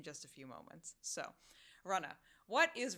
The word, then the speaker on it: Runnah: a few moments so Runa what is Runa well essentially it is the Massachusetts spelling of Runner because this is how we pronounce things in Massachusetts we drop the r and thus you get